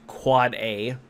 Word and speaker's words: AAAA: authoritative name server, and AAAA, an end device IPv6 address, pronounced quad A, or MX, a mail exchange record.